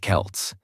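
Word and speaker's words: Celts: These ancient people were called the Kelts, pronounced Kelts, and they didn't have Instagram or iPhones.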